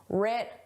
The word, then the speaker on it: writ: The W is silent just like in the word right. The W is silent. But in spelling it's there. In pronunciation it isn't. Rit large.